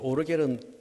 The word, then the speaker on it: 오르겔: 오르겔은 독일 발음입니다. 보통 우리는 파이프 오르간 그렇죠. 파이프 오르간은 미국식 발음.